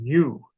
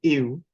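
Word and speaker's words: yw: is in Cornish, that it's really pronounced like an I sound with a little W after it rather than you, which is how a lot of people tend to pronounce it when you're first exposed to it in Cornish. So you hear a lot of people saying you, but it's really ew.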